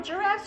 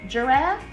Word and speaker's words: giraffe: Is it g, giraffe or j, giraffe? It's j, giraffe.